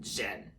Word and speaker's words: Zhen: Teaming up with a fox, of course, with a fox played by Awkwafina, like Zhen. Yeah, that's how you say it, Zhen.